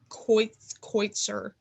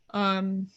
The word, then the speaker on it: Kotsur: Troy Kotsur. Kotsur.